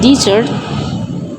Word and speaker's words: dessert: They are both two-syllable nouns, but the stress is different. Desert and dessert. And when you use desert as a verb, the stress is on the second syllable and it sounds like dessert.